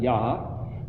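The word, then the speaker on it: יה: Yod He is a short form of Yahweh. It's pronounced Yah.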